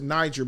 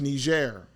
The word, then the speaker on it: Niger: of people pronounce it Niger but the word is ner is the name of the the country which is a French word so is Algeria right